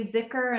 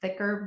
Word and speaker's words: dhikr: So, um, as I've understood it, uh, and and you say zikur, and I understand there's different ways to pronounce that as well. We've heard thicker before.